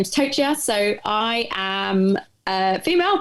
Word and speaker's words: Tochia: last name just so everyone knows how to pronounce it because it's always fun my last name is tochia so i am a female that lives in